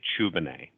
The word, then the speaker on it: Tchoubineh: to france and so this is the french spelling of the last name not the english spelling so as such the t is silent so when we came